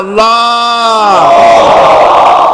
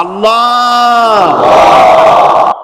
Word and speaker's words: আল্লাহ: মুখটা একটু গোল হয়ে যাবে, বলেন আল্লাহ আল্লাহ আল্লাহ।